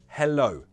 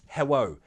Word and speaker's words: hello: So, hello, not hello.